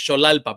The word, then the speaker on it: Xolalpa: Um, and just so you so you can pronounce it uh correctly next time. It's Cholalpa, but everybody gets it wrong because it's